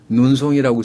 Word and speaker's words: 눈송이: 눈송이라고 쓰고 남쪽에서는 눈송이 이렇게 발음하죠. 눈송이. 된소리 쌍시옷이 납니다.